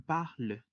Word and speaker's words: parles: Para el caso de tu, la conjugación es parle, recordando que la S al final tampoco se pronuncia. Y en conjunto se dice tu parles.